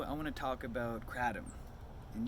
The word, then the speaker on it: Kratom: This is George, and in this video I want to talk about Kratom and using Kratom or Kratom. Some people pronounce it Kratom, whatever.